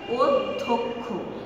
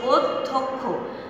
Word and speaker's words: অধ্যক্ষ: জফলাযুক্ত ব্যঞ্জন, ধয়ের সঙ্গে জফলাযুক্ত আছে, তাই এই অ এর উচ্চারণটা কি হয়ে গেল? অধ্যক্ষ। তোমরা অনেকেই উচ্চারণটি ভুল করো যে অধ্যক্ষ।